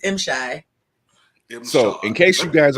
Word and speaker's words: M'Shai: How you doing, Miss Shay? I'm doing well. It's actually M-Shy. I want to make sure I say it right because I always say Shay just mess it up.